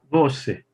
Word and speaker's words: você: And then here, we've got the last syllable stressed.